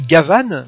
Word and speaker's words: Gaban: Et il s'appelle Gavan, mais en fait ça s'écrit Gaban, comme Gaban, parce que c'est le flic de l'espace, et donc ils l'ont appelé Gaban en référence à Jean Gabin.